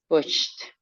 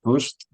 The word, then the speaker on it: pushed: pushes pushed pushed pushed pushed you can pronounce it like a d or like a t pushed is fine or pushed you can say same okay and when